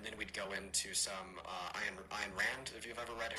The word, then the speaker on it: Ayn Rand: I think he also totally said Ayn Rand's name wrong. Like, he said Ayn Rand, but he said Aaron Rand. Or On Rand, I think is what he said.